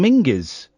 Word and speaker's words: Minges: John Menses or it's pronounced properly John Minges. Is it apparently so? I don't buy it for one second, but yeah, John Mingis.